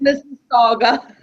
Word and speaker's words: Mississauga: Pronounced Mississauga.